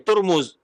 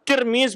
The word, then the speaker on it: Tirmidz: Kemudian juga eu almutnu ya ahlulifah ta wal mim ya turmuz ada pula yang bacakan domah ya baris di